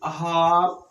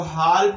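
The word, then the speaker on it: half: बहुत सारा है, जैसे बोलते हैं हाफ, शुड, ओड, कोड, है ना। तो सब जगह यहाँ पे एल साइलेंट है, ये एल साइलेंट है।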